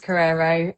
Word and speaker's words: Korero: Um how did I pronounce Carrerero right? You did pronounce it right. It is Carrerero.